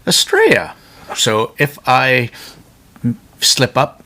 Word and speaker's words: Estrella: um this is the spelled Estella but is pronounced estrea so if I slip up anywhere in this